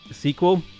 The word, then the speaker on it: SQL: i was looking for sql is always pronounced sequel an easy way to